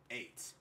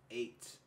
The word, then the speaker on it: eight: now now now now in this word right here the GH would is completely science you you get eight you ignore this you ignore this completely the word but however